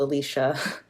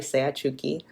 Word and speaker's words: Seachuki: Um sometimes I'm called Alicia, which is not my name, right? It's Seachuki.